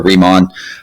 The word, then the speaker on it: Riemann: a Riemann or a Riemann sum. There's multiple pronunciations for that. Some people prefer Riemann and some people prefer Riemann. I was always taught Riemann, so I usually say Riemann sums.